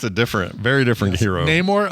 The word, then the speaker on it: Namor: Neymore. Okay, thanks. Yeah, that's one that uh that uh I think I've always mispronounced them because I've always said Namore.